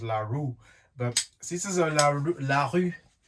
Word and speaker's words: LaRue: the the us and the brand and it's pronounced larue but this is a larry larry tactical lt15 rifle it's an ar-15 platform it's nothing